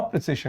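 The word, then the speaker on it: précis: तो बेटा, आज हम करेंगे प्रेसी राइटिंग, जिसको लोग गलती से गलत उच्चारण देते हैं प्रिसाइज। ये प्रिसाइज नहीं है, प्रेसी है सही उच्चारण।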